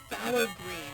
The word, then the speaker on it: phthalo: doing was adding some phthalo green that that kind of sounds weird to pronounce but it's it's spelled p-h-t-h-o-o um it's a it's a